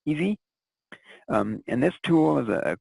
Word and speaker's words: ESII: The next level of evaluation for some projects is the Ecosystem Services Identification and Inventory Tool, pronounced by its ESII acronym as EASY.